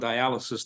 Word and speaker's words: dialysis: And once you're on diialysis, the key syllable there is die because you will die.